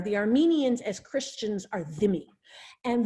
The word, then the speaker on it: dhimmi: Armenians as Christians are dhimmi. And dhimmi, the DH is pronounced like a TH.